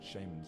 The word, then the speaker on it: shaman: Suffice to say, nothing was achieved except dozens of flayed shamans draping our walls. Just reminiscing. Shamans. It's pronounced shaman, you fucking...